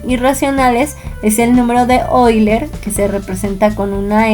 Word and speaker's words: Euler: Sus maestros le van a decir Euler, recuerden que se pronuncia Euler.